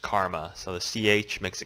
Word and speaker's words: Chrma: weird I guess you could say but it's pronounced karma so the CH makes a que sound so